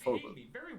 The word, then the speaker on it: Vogel: It's just a wrong spelling of the word Vogel, Vogel, which is bird in German, but it's pronounced Vogel.